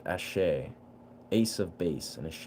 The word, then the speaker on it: Asé: Ashe is pronounced Ashe.